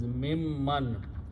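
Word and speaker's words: مِمَّن: When you write down together, this sound, the noon is sound as mim also, so it pronounces mimman.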